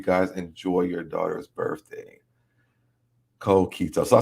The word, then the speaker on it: coquito: i hope you guys enjoy your daughter's birthday cold keto so i said it right coquito i said it right i did good i'll